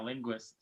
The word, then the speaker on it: Linguist: I raise my glass to Coach Harbaugh, but more to Coach, now I can't pronounce his last name, Linguist? Is that how you pronounce his name? Yeah, Linguist.